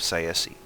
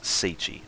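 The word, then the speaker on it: Tsaesci: These men, however, were eaten long ago by the vampiric serpent folk of Siesi. They had not been or sorry, it's pronounced sichi. I always forget that.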